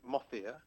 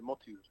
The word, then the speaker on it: Mohitur: The Anglicized of it, I guess, as I've grown up with it, it's Mothir. Mothir. What I've learned, though, is that the Arabic is, the pronunciation should be Motiur.